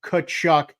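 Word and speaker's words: Tkachuk: in RBI and Matthew kachuck one assist tonight he got an assist at game six in that playoff series Matthew cchuck the t is silent if you stay it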